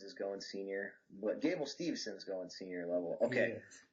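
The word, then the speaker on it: Steveson: Stevenson. There's no N in there. A lot of people struggle with that. They try to throw an N in there too. Stevenson.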